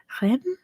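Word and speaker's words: Reims: It's Rem, I believe you pronounce it.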